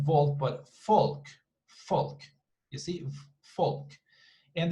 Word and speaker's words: Volk: same thing here so actually in german they would pronounce it like that folk and falk means like